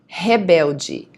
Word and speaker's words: rebelde: Materialista, otimista, paciente, imparcial, perfeccionista, pessimista, popular, rebelde. Remember that the R at the beginning of the word is always going to be pronounced as a H, okay? The H sound.